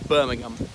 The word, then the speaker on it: Birmingham: This one, and usually if it's not the first syllable, it's just that the H is silent, like Fulham, not Fulham, or Birmingham.